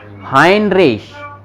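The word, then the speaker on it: Heinrich: आई, तो ये क्या लिखा हुआ है, हाइन, हाइनरिश, इस तरह से हाइनरिश।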